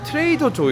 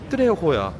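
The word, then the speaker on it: Trejo's: 거 같아서 정확하게 타고집은 트레호야. 트레 트레조가 아니고 이제 왜냐면 스페니시는 어 H가 없어서 J를 H 발음을 하거든.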